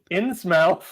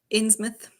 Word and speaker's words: Innsmouth: Shadow Over Innsmouth. How do you guys... hold on a second. How do you guys say it? Innsmouth. Innsmouth?